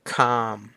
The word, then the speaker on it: calm: ครับ ผม ต่อ มา เป็น silent L บ้าง ครับ ผม อย่าง เช่น calm calm ก็ แปล ว่า